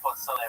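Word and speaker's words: pozole: No, if you look up chicken, I believe it's P-O-Z-O-L-E, and it's pronounced Pozzole for all you fucking gringos out there.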